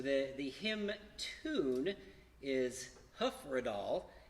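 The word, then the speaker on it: Hyfrydol: the hymn tune is hoofer at all and that's commonly mispronounced it looks like high fried all the hyf roi DOL but that's not how you say it obviously this is done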